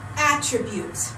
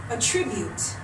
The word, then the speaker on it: attribute: I pronounce that word attribute if I put the stress in my voice here I pronounce that word attribute attribute and attribute they look the same but they're completely different things right attribute is the way